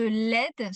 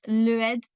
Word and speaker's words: l'aide: quand on utilise l'article, il y a beaucoup d'erreurs de prononciation parce que c'est l'apostrophe. Et en général, mes élèves, surtout si vous parlez anglais, vous voulez mettre une syllabe sup supplémentaire. Par exemple, dire le aide au lieu de dire l'aide.